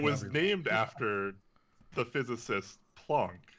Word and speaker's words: Planck: after the physicist Planck, which is German. So traditionally, you would say it Planck, but because it's kind of an international unit, it's kind of whatever place wants to say however. Okay, so neither pronunciation is wrong, right? But I will always say Planck in my videos and whatever I do.